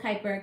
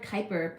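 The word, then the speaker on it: Kuiper: Bel with which reys told me it's called Kyper k u i p e r and um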